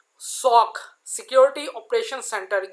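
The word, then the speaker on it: SOC: सॉक usually pronounce सॉक और sometime called an information security operation centre कहलाता है।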